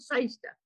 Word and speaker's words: Cyster: it SOC I don't know I'm just called seister I have a a as one of the